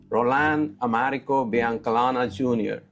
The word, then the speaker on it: Biancalana: Rolan Americanana Jr. Am I pronounced your name correctly?